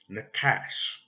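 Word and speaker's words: נחש: And you will pronounce this in Hebrew, Nakash.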